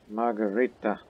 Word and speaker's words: Margarita: As tradition, my wife, my girl, Margarita, again, pronounce it correctly, it's Italian, underwent her churching after recovering and cleansing herself from recent pregnancy.